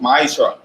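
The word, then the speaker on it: מעשר: each ten beams tense in the Hebrew and is pronounced my char 10% of every penny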